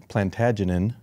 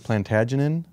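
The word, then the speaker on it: Plantagenet: he was part of the House of plant plantagen that's how you pronounce it so the house of plantagen the folklore stated that it was the descendant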